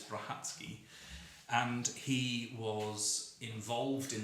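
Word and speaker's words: Brachacki: was born in poland and his surname is pronounced hatsuki not brachaki which is how it's spelled on the page but it's brahatsky and he was involved in the second world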